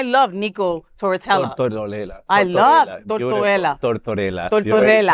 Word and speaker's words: Tortorella: I love Tortorella. Latinos are arguing over pronunciation. It's Italian now. Get your people. Tortorella, yeah.